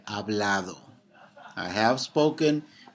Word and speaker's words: hablado: your a your e hablado I have spoken right now H is silent you have spoken you